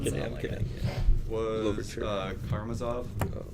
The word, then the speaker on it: Karamazov: Oh, it's Karamazov. Karamazov. Okay. Yeah. I think it's all yes.